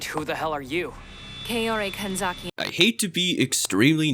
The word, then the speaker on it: Kaori Kanzaki: Kaori Kanzaki. I hate to be extremely nitpicky here, but you said your first name wrong.